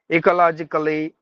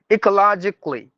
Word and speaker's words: ecologically: look at these words any word with the c a l l y what we do we we say it as k k musically uh military and dram dramatically ecologically no these letter A's you have to silence and if there are two consonants together like Double L you have to silence one of them as well so that means ecologically logically not without the a c l y c like that